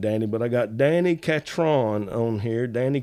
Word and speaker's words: Catron: here Danny katron now I have said your name wrong for many a year and us over here on the eastern part of the South we we probably going to keep saying it wrong but don't take no offense to it Danny how you doing today oh I'm doing great and it's like catching and I know a